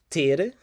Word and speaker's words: ter: going to look at the verb to have tier as it's pronounced in portuguese one for one more time